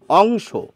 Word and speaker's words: অংশ: রস উকার অপু তা এই যে অংশ যখন বলছেন তখন কিন্তু অ এর উচ্চারণ অই বলছেন অংশ অং অ বলছেন আপনি আবার দেখুন লিখছেন অয়ে কিন্তু বলছেন ও পু এই অ এর উচ্চারণ ও হচ্ছে আর এই অ এর উচ্চারণ অ হচ্ছে অর্থাৎ অ এর দু